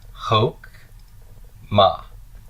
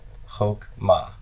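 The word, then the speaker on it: חכמה: a comments Coutu 'the and my Shiva is silent gonna divide here and that's going to be pronounced Hoch ma Hoch ma if I were transliterating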